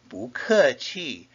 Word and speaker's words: 不客气: Therefore, you will say 不客气 or 不要。